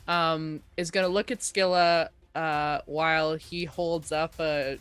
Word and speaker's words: Skylla: what was her name i want to call her skrillex and it's not skrillex i mean come on